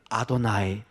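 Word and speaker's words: אדני: 그저 유대인들은 아도나이, 나의 주인이시여. 이 본문에 이 단어가 나오면 그냥 아도나이로 읽습니다.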